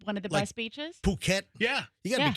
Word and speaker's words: Phuket: Yeah, you got to be careful cuz I want to pronounce that differently. I I I didn't know that was a pronunciation. I thought I thought it was a hard f.